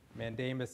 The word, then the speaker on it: mandamus: Mandamus is it's a Latin word, and the pronunciation is mandamus.